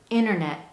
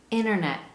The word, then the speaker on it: internet: delete and change sounds in this particular word we have a dropped t sound if you don't